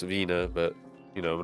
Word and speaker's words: Wiener: It's actually pronounced Wiener, but, you know, we're not going to let that get in the way of a good...